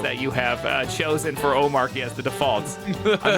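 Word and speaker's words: Omarchy: So Omachi, that's what it is. All right, Omachi.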